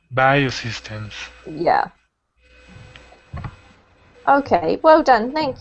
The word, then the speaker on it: biosystems: to comment on and it's pronounced biosystems rather than bo systems biosystems yeah okay well done